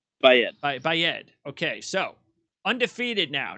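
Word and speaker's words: Baaeed: And how do you pronounce Bayed? Bayed? Bayed? Yes. Is it Eid or Ed? Bayed.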